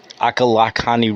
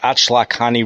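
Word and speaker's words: Ochlockonee: extended West along the Florida panhandle from the akalani river a I'm sorry if I'm not pronouncing that right ACH lakani River o c h l o c k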